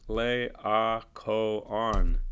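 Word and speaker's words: Laocoön: guy's name is pronounced lay our Co on you know sometimes see it's like this those two dots there's not an umlaut it's called a diocese and it means pronounce this separately so the icon who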